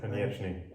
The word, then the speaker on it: Konieczny: Is it Tomasz Konieczny? Yes Konieczny.